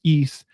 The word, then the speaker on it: Ys: spelled with the ys it's pronounced east so east book one and two